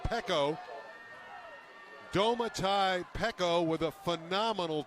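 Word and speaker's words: Peko: So Pico, it's actually pronounced Pecco.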